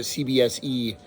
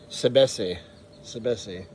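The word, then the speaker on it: CBSé: By the way, that's also I was calling it CBSE, the yerba mate that I reviewed in my first video, but it's Sebese. All right, so I'm going to pour this in here.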